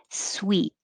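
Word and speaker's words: suite: metamorphosis metamorphosis and 23 two spellings but the same sound sweet if it doesn't have e at the end it's suit but the one spelled s-u-i-t-e is the same as sweet like candy sweet conceptual i'm pushing it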